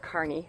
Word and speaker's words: Kearney: by Kearny I think it looked like Kearny but Gary says it's pronounced Kearney Nebraska and we asked if